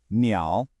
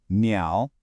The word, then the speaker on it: 鸟: the word for bird, 鸟. That's pronounced 鸟. Hey, listen to that tone. It's that same dip and rise one we heard with the word for dog, go. Hear it?